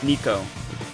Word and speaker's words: Neko: Neko. That's how you say it.